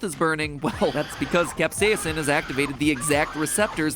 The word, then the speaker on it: capsaicin: chemical capsaicin, and yes, I'm pronouncing it capsaicin because that's how Merriam-Webster told me to pronounce it, even though I have never once heard anyone in my life pronounce it that way.